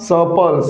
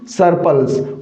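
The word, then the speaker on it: surplus: सपल्स, न कि सरपल्स।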